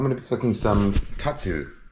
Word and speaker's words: katsu: I'm going to be cooking some katsu right now. Tonkatsu. Ton means pork. Katsu is Japanese pronunciation of cutlet, a shortened pronunciation of cutlet. Katsuretsu, cutlet.